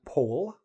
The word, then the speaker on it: poll: Next, you're going to hear a lot about polls, p-o-l-l, pronounced: "pole".